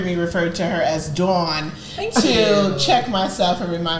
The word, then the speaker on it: Dawn: listeners, Dawn had to check me real quick. She has informed me that her name is Dawn, not Dawn, as I've been calling her on every episode.